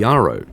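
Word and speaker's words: Jjaro: Durangel linked the mythology of the Spit and their 11th clan to an ancient race called the Yaro, spelled with J's, not Y's.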